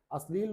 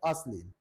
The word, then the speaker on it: अश्लील: अश्लील बोलते हैं लेकिन सही उच्चारण है अश्लील, आ लगा के श्लील।